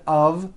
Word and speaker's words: of: speakers make this mistake even though the word of is spelled with an F we pronounce the word of with a voiced v I know this sounds